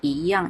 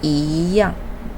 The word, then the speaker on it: 一样: The other thing you should to be carefully that is the pronunciation. Although pronunciation is 一样, but normally we pronunciation is 一样. Okay, is the second time, not the first time. So you should pronunciation is 一样, not 一样.